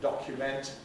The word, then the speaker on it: document: if we also have the verb to document and the noun a document which similarly are distinct because the verb keeps a strong vowel in the suffix to document just as to implement